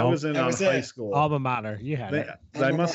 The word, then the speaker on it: alma mater: Alma mater. You had it. I must have mispronounced it the first time.